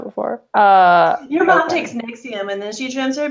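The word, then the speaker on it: NXIVM: it Oh me and I never knew how you say it but it's nexium that's how you say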